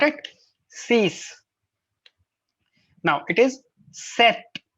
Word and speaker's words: sept: sees now it is set it's not sept it's not sep it's set that's it set oopsie